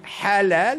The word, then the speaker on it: halal: pour les deux bien mais quand on dit halal c'est un H mais autrement prononcé et donc c'est pour